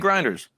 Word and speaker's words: Griner: What do you think about Brittney Griner's?